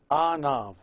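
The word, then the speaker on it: ⲁⲛⲁⲩ: But when you ask someone to look, you say anav, you add the a. And as you can tell, the a has a jinkim on it, so it's a separate syllable. So we have also this word, two syllables, a, nav.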